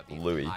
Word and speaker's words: Luis: Luis Yeah. in Spanish is pronounced like Luis, and in English it would be like Louis.